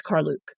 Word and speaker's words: Karluk: Lord McKinley video footage, that's how he pronounces it is Carluke.